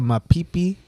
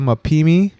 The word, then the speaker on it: Mapimi: All right, we're talking about the Mapipi.